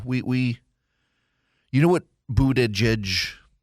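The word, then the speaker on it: Buttigieg: we you know what bued jedge so the reason I say boot Edge Edge is because when he was running for president that's what his campaign said is is that the way you pronounce his name is boot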